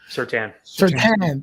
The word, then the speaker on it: Surtain: But Greg Newsome and Patrick Surtain, or Certain, how do you pronounce it again? Patrick Surtain? Surtain, thank you.